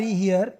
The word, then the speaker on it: here: तो ये जो HERE हियर, ये होता है यहाँ, हियर यानी यहाँ। Come हियर, गो देयर, over हियर, हियर, हियर, इसका प्रोनाउंसिएशन होता है HERE, हियर, हियर यानी यहाँ।